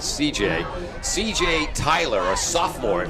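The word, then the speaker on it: Cijai: It's C-I-J-A-I is the first name. We're pronouncing it C.J.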